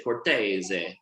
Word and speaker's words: Cortese: so gabi is made uh with the grape cortez from the pia monte region so i want everyone on three to say cortese really one two three perfect from piano so